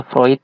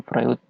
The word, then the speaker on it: Freud: Fruit itu melakukan analisa dibacanya vroid ya bukan Freud Sigmund fluid Hai Ia